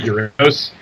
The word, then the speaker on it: Uranus: and now they're doing Uranus as they pronounce it uranos so they're not really